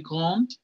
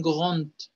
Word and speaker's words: grand: Dicen grand con T, bien marcada. Il est grand, elle est grande, grande. ¿Sí? Hay varias D al final que tanto los franceses como los alemanes pronuncian como una T.